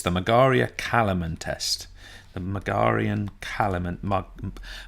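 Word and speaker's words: Margaria-Kalamen: that unconscious and he's wrong and bastardizing this pronunciation it's the mug Aria Callum intest the Megerian Callum ant mug Marg area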